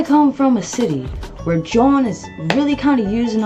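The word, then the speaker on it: jawn: If you're not from Philly, or if you don't know what John is, this is how you spell it. Time for a Sesame Street lesson. Word of the day is John. How's that spelled? J-A-W-N.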